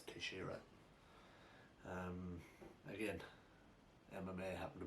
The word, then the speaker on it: Teixeira: a fight nice santos versus shira or texara however you want to pronounce it but i think it's tashira um again mma happened